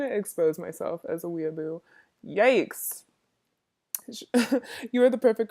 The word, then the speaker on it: weeaboo: Weeaboo? I sound even worse now because I mispronounced weeaboo, like weebo.